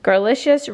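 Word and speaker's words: Garlicious: garlic issues religious weight Girlicious rhymes with delicious garlic okay I'm having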